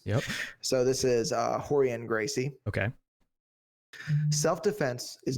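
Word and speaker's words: Rorion Gracie: Yeah, and they all have names that start with R, which is pronounced like an H in Portuguese. Yep. So this is Horian Gracie.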